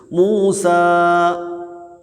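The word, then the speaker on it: موسى: മൂസ എന്നുള്ളത് എങ്ങനെ എഴുതുക? മൂസ എന്ന് എഴുതുമ്പോൾ അവസാനത്തിൽ യാ ആണ് എഴുത്തിലുണ്ടാകുക, പക്ഷേ ഉച്ചാരണത്തിൽ ആരായിരിക്കും? അലിഫായിരിക്കും. അലിഫായിരിക്കും ഉച്ചാരണത്തിലുണ്ടാവുക.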